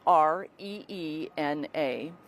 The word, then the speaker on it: Rena: First name is spelled F as in Frank, N as in Nancy, U, and then Rena, Reena.